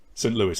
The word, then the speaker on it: Saint Louis: the pronunciation jen lewis saint louis as in the cardinals right saint louis yeah